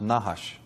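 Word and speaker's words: נחש: semetic for serpent is nahash of course they didn't use vowels so it's just nhsh but that is pronounced nahash and it actually means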